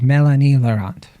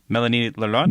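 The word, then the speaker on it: Mélanie Laurent: up and I think the way you pronounce her name is Melanie laurant Melanie lant Melanie lant yeah some essentially so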